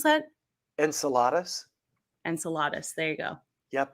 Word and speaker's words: Enceladus: water gushing out of uh how do you pronounce that enceladas Enceladus there you go yep it's a moon in